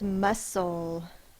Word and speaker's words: muscle: the next word is muscle muscle sound it out m s the first sounds M uh s that's got that silent c in it and O we don't